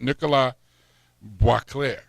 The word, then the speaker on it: Boisclair: And with us is, got to make sure I pronounce this right, Nicolas Boisclair. Yes, Boisclair.